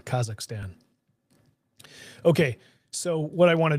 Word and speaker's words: Kazakhstan: Kazakhstan, I pronounced that wrong, Kazakhstan.